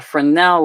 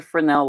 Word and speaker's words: Fresnel: A Fresnel light. I get really thrown off by that S. I was just like, Fresnel? What's a Fresnel? But it's a Fresnel light, I think.